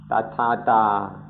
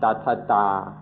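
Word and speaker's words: Tathatā: ourselves, the Dhamma of Tathata. Tatha means thus or such, like this. And Ta means state of being. It means the state of being. So Tathata can be pronounced Tathata or Tathata, means the state of being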